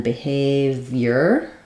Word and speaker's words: behavior: um Behavior behavior um so second syllable stress a v the I says the Y sound and then letters o r just say R not or behavior um so uh please